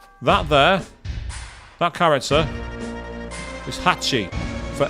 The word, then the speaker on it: Hachi: Literally Hachi. That's how you pronounce it. It's sometimes abbreviated to hatch, depending on the dialect or the construct of the sentence, but usually Hachi is the official way.